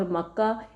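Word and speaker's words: مكة: جو مکہ میں ہے۔ بکہ اور مکہ ایک ہی لفظ کے دو تلفظ ہیں، یعنی دو پروناؤنسیشنز ہیں۔ مبارکم وہدی للعالمین، برکت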